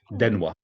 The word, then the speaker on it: 電話: Denwa. Denwa. Oh, yeah, right. Denwa.